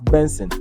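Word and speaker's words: BNXN: 14th May 1997 known professionally as BN xn pronounced as Benson and formerly known as Buju it's a Nigerian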